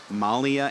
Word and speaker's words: Malia: mackenzie powell and then malia anderson i've just gotten what i think is a correct frenetic pronunciation is it's uh malia malia okay malia anderson and